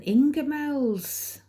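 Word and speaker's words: Ingoldmells: And I keep getting Ingemels. Well, that's how my mum and dad pronounce it. It's spelt in gold mells.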